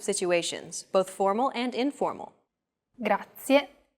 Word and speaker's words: grazie: A very common mistake many learners make when pronouncing this word is that they don't pronounce the final E clearly. Listen closely to how I pronounce this word. Grazie, grazie. Another aspect that can be difficult for beginners is learning how to roll the R.